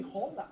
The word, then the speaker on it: hola: You don't pronounce the H. For example, the word hola. O L A it have an H in the front. In Spanish you don't pronounce you say hola but in Spanish hola.